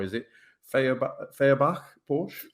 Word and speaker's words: Feuerbach: Is it Feuerbach Porsche? How do you Feur, pronounce it? Feur, Feuerbach.